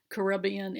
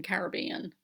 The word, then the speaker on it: Caribbean: and i think maybe i just said caribbean and then caribbean i pronounce it both ways i don't know about